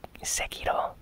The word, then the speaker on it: Sekiro: Honestly, I hear people pronouncing it Sekiro and Sekiro. I think in Japanese, the correct pronunciation is Sekiro.